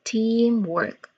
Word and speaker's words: teamwork: For pronunciation, there's two distinct sounds. First is team, as in there is a long E sound there. Team, like the word see, but it's team. It's a long E sound in the middle. Team. And then work, work, work.